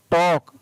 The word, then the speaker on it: talk: TALK, टॉक, L और K साथ में आया इसलिए L है वो साइलेंट, टॉक पढ़ा गया। इसको आप टॉल्क नहीं पढ़े, टॉक, TALK।